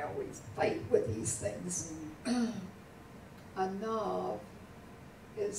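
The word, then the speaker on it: ענו: Anav is spelled ayin, and then nun, and a vav.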